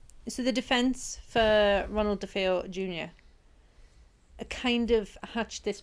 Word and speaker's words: DeFeo: And it's DeFeo, not Defoe. DeFeo. DeFeo, because they're Italian.